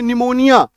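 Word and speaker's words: pneumonia: है प होता है लेकिन आपने कई सारे शब्दों में देखा होगा पी का उच्चारण ही नहीं हो पा रहा है पी का उच्चारण नहीं हो पा रहा जैसे आपने कई शब्द जैसे सुने होंगे निमोनिया तो स्पेलिंग जो है पी से शुरू हो रहा है पी एन ई यू एम ओ एन आई ए सब सोच ये लिखा हुआ तो पनमनियन निया क्यों बोलते हैं है ना तो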